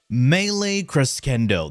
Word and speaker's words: Melee Crescendo: Melee Crescendo. That's exactly how you pronounce it, trust me, I know.